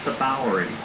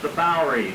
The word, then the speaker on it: Bowery: The Dutch word for farm, boerderij, we mispronounce the Bowery. On your left, the Bowery, the Lower East Side, once the most densely populated place on the planet.